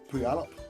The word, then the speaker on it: Puyallup: Oh yeah, honestly, a bit of a great laugh this weekend up in pardon me, you pronounce it Puyallup.